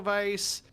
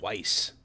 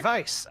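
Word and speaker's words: Weisz: Oh, I always said Weiss. I've always said Weiss, too, but I believe it actually is pronounced vice like with a V.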